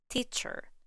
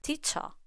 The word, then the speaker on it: teacher: on a stress syllable teacher doctor in these words e r and o r are simply reduced to the straw sound in British English teacher doctor in American English